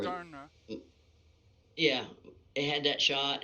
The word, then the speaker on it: Moderna: I know I'm saying the name wrong. Modena. Whatever. Moderna.